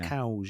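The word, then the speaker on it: Cowes: some nice girls there c-o-w-e-s it's it's it's spelled cows yeah that's where they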